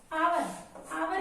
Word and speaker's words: hour: hour में H हमारा consonant है, लेकिन साउंड इसकी हमारी O की है, इसलिए हम यूज करेंगे N. H हमारा साइलेंट है.